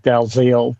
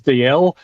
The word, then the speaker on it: Dalziel: And my surname's an old Scottish name, and while it reads like Dalziel, the Scottish pronunciation is DL.